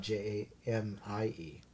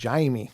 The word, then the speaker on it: Jaime: It's but just if you look at it, his name is spelled Jaime, not Jamie. That's why I said Jaime.